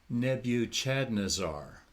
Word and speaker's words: Nebuchadnezzar: remember in the 70s a young preacher came and said Nebuchadnezzar should be pronounced Nebu Chad nazar it's okay it's open